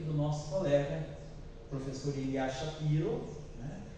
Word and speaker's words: Shapiro: professor Ilya Shapiro, né, como dizem os russos, Ilya Shapira, né, o professor Ilya Shapira, né, porque em russo o O, quando não é na sílaba tônica, ele se pronuncia como A. Então, Ilya Shapira, porque o Pi, né, o I é que é a sílaba tônica, o Pi. Então, se em português a letra Shapiro, né, mas em russo é Shapira.